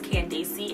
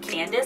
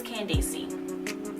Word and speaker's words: Candacy: name is and can they see is pronounced as candy see and non Candice because a lot of people see and they pronounce it as Candice but it's candy see my parents a very extra the sixth one